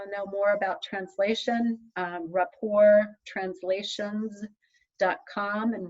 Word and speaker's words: Rapport: if you want to know more about translation rapport translations dot com and rapport is spelled like the french word r a p